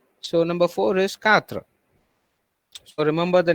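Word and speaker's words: quatre: four is pronounced as katra q u in french is pronounced as k okay qu is pronounced as k so number four is katra so remember the name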